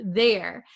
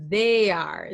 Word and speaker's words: there: There. So a lot of my students at least in Japan they pronounce this as they are.